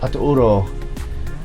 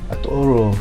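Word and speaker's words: Atauro: recently um so on my right is the aturo sign it's actually pronounced aturo aturo and there that's been made with bottles I'm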